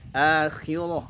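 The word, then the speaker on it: الآخرة: Akhirah, rohnya tebal, taknya tipis.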